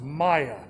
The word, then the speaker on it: Maya: even back in six the sixth century is pronounced maya people ask that question a lot i questioned